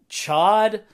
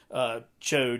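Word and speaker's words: Ch'od: So I'm probably not going to pronounce it right, but it's like Chod. It's like C-H, like apostrophe O-D.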